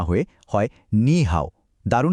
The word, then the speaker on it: 你好: তাই নি হাও এর উচ্চারণ নি হাও না হয়ে হয় নি হাও।